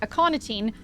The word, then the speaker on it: aconitine: Aconitine, I don't know if it's a hard C or soft C, is commonly used as an acute toxin for large mammals such as whales and was chosen for its theoretical effectiveness on... Okay, hard C.